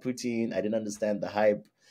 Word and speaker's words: poutine: impressed I didn't like poutine I didn't understand the hype um and then also there's different pronunciation some people call it Putin which I think is the French pronunciation I don't know the